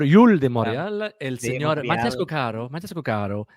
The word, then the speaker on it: Matías Cóccaro: Le passager Mathias Coccaro est demandé au comptoir. Le passager Mathias Coccaro. Señor, señora, bienvenidas a Aeroport Yul de Montréal. El señor Mathias Coccaro. Faut mettre l'accent tonique à la bonne place.